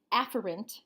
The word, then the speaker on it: afferent: what's called an eighth errand pathway the word a ferrant is actually pronounced after int usually but I always put an emphasis on